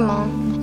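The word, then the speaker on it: Hmong: from Thailand yeah we're Mom it's h m o n g but the age is silent I think I'm like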